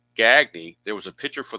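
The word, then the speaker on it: Gagne: Uh Gagy on the replay hitting .314, 27 out of 86. Two homers and 11 driven in. Interesting though that he's pronounced Gagny.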